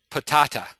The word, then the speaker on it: Patata: This uh the gentleman's name is Patata. Okay. It's uh spelled like potato but with uh but it's pronounced patata.